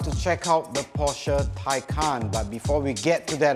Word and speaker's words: Taycan: name of this car it isn't Porsche 'Taken', or 'Tekan' It is Porsche Taycan that means in Turkish